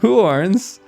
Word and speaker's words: Huorns: Huorns, which, I kept mispronouncing in half of my other videos, Huorns have come back as well.